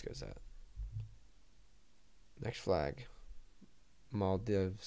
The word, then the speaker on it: Maldives: as that next flag maldives small dives i'm an american that's how i pronounce it uh right behind martinia